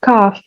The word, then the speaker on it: cough: Even though it's written with a gh, it's pronounced cough with an f.